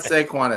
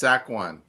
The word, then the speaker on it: Saquon: It's not Squan, it's Saquin.